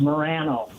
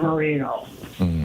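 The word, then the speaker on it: Moreno: you look at the name they'll say it's pronounced Morano not Marino and he's I just don't you know to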